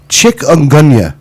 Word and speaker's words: chikungunya: you can't pronounce it like one i can't pronounce but two i mean what the heck chikungunya is that what it is chikungunya it's a